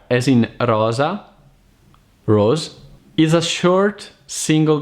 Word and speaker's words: rosa: number one is are and double are una Rosa Rosa a red rose burro emmerman lotta butter and